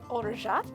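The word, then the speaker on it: orgeat: to sweeten it with ulrijet if you have never seen or shot don't worry it's spelled like orgriot if that's what you need to look for in the supermarket french am i right and then we are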